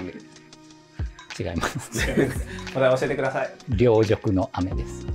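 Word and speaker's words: 凌辱の雨: C'est Ryojoku no Ame. Ryojoku no Ame Le kanji pour 'Ryo' dans 'Ryojoku' a le radical 'Nisui'.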